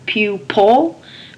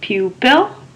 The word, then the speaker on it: pupil: may pronounce the word Pew poll but the correct pronunciation is pupil it has two syllables pew pill your first syllable is